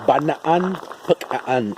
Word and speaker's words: Bonampak: Pero si nosotros decimos o describimos Bonampak en nuestra lengua como maya lacandón, sería de esta forma, como Banaan, Pacaan. Eso sería aquí en nuestra lengua como maya lacandón, pero ya con una pronunciación, ¿no? En nuestra lengua aquí como maya lacandón. Pero bueno, obvio, ¿no? Pues es mucho más práctico en la zona peninsular, simplemente Bonampak, ¿no? Sin pronunciación.